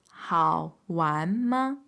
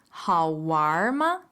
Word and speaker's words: 好玩吗: The way to say was it fun is 好玩吗?